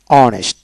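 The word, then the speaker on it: honest: অর্থাৎ যে সকল ওয়ার্ডের ক্ষেত্রে এইচ এর উচ্চারণ হয় না, এইচ এর পরবর্তী অক্ষরে উচ্চারণ হয়ে থাকে, সেক্ষেত্রে এন বসে। যেমন অনেস্ট বানান করতে হলে এইচ ও এন ইএসটি, অনেস্ট, তার মানে এইচ বাদ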